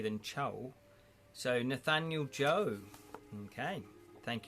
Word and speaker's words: Cho: The anglicised Chinese family name Cho is actually pronounced Joe.